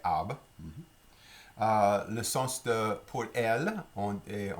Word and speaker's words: arbre: Si on va commencer avec le mot arbre, pour arbre, on ne prononce pas les R, on ne sait pas un arbre, c'est arbre.